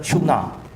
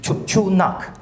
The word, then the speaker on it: Chunak: 7 Tibetic lects, Eastern Chuna. That's the local pronunciation, Chunak, or black water, okay? But they say Chuna, or EC cluster, which supports setting it up as a distinct Tibetic language.